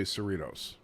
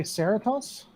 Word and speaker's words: Cerritos: really want to know why you won't say cerritos why wouldn't i say saratos cerritos california the california city of ceratos and the salvange yeah why do you refuse to pronounce it correctly you mean the city